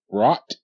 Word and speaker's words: brought: the r BR you brought them to school good bought and brought okay BR a br br okay GH is silent okay in this case here